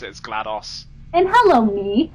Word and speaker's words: GLaDOS: I don't know, I've always pronounced it as GLaDOS. And hello, me. How are you? Because it's pronounced DOS, not DOS. Because it's genetic life form and disk operating system.